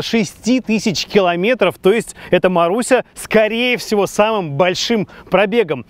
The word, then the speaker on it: Marussia: Мараша-параша. Не Мараша, а Маруся.